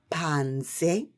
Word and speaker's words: panze: say that means inside well done now say pansy that means outside well done you guys are